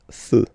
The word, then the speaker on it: feux: Un feu, and basically the same rule. You don't put S, but you will put X instead, and then you don't pronounce it. Des feux, un feu, des feux.